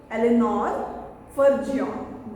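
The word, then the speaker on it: Eleanor Farjeon: Eleanor Fergion. This is the way we pronounce her name.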